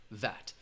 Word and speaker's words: VAT: But again, it's an acronym. You're going to pronounce it as one word, VAT.